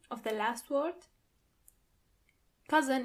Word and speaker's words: Cousins: Onkel und Tanten, 9 Cousins. Do you hear the pronunciation of the last word? Cousin in plural, you have to add a French pronunciation to it.